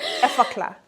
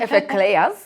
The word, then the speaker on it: Effaclar: Eclair, Say it right, Effeclar. I'm here. Effaclar. Effaclar. Effaclar. There you go. Not Effeclairs, no, Effaclar. So the Effaclar foaming cleanser, Yes.